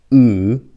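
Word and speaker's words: ㅜ: So this one is U. It looks like this because when you pronounce it, your lip should look like this.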